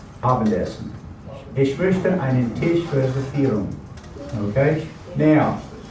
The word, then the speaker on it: reservieren: Ich möchte einen Tisch reservieren. Okay, now, notice I said reservieren. Remember, V is pronounced like an F.